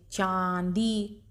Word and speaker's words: चांदी: फिर ये चांदी, ठीक, तो चा के ऊपर ये चंद्र बिंदु लगा हुआ है, तो इसको इसको नाक और मुंह से इसका उच्चारण होगा, चांदी।